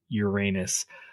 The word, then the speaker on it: Uranus: I think that's Neptune and Uranus.